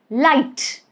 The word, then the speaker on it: light: So in all these three words, light, might, height, you do not pronounce the letter G.